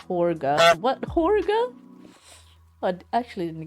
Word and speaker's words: Jorge: um so but yes some people wanted to be pronounced as george which is kind of strange because it is a spanish name you know it's